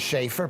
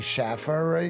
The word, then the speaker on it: Schaefer: Well, my name is Schaefer. People say Schaffer.